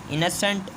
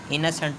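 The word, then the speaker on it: innocent: जागा हुआ, ब्रेव बहादुर, इनसेंट इसको इसको इसकी जो प्रोनाउंसिएशन है इसके अंदर ए का साउंड आएगा, इनसेंट होगा, इनोसेंट नहीं होगा, जिसके माने मासूम, वाइज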